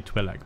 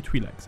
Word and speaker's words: Twi'lek: I'm going to say Twi'lek, because it's what I've always said. People I know say Twi'lek, but they're wrong.